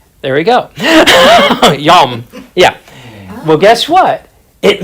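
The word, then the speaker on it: יום: to pronounce it, although I can have him pronounce it. Yom. There we go. Yom.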